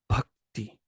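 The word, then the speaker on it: भक्ति: b and an H we write it BH in Latin letters but this is just that that sound it's this lip position consonant with remember the first lip position is PA then ba with more juice and then with the H added and it's it's really just one letter so it's bhakti okay then this let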